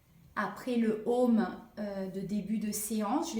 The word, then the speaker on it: Aum: Pour être plus précise, ça s'écrit Aum. Donc A représente le début, la vie, la naissance plutôt. Le U qui se prononce O, c'est tout ce qui